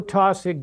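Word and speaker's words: Taussig: character in your book help me with the pronunciation Joe tsig Jr Joe tosic Jr is 100% real a member of the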